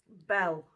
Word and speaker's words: bael: it's not a melon it is a bell fruit um or Bale fruit depending on how you pronounce it I'll put the